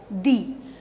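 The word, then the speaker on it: the: ववलू sound के साथ जब आप टी एच ई लगाते हैं तो आप कैसे प्रोनाउंस करते हैं इसको दी अब इट is clear द is used with consonant sound दी is used with द vowel sound very similar द आवर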